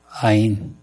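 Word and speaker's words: יין: 히브리어 발음도 비슷해요. 아인. 와인은 영어고, 아인은 히브리어입니다.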